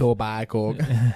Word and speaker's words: Etobicoke: I don't know if I pronounced that right. Probably not. If we've got any Canadian... It's Etobicoke.